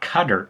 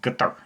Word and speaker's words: Qatar: I mean, I don't know exactly, but yeah, so it's not Qatar, it's guitar, guitar, Qatar.